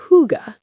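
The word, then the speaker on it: hygge: It's spelled h y g e, but it sounds like huga.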